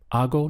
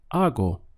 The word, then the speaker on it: hago: Notice that just like hago, the H is not pronounced.